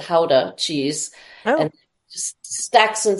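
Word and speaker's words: Gouda: could make the Howa the guda they pronounce it Howa cheese and just Stacks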